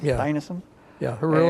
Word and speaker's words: Dinesen: Worked as a secretary to Danish writer, and forgive me if I mispronounce it, Isak Dinesen? Yeah. Dinesen?